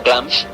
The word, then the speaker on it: Glamis: como en el castillo de glamis pronunciado glams y teniendo lugar en